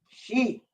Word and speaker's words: Xi: Olmec. She. As in Xi Jinping.